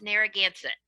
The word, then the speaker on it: Narragansett: I work for it's pronounced Narragansett Bay Research Reserve, and I'm in Rhode Island,